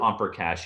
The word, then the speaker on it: Omprakash: they partner with an organization called omprakash which is spelled o-m-p-r-a-k-a-s-h and so through opera cash you can find internships and opportunities in in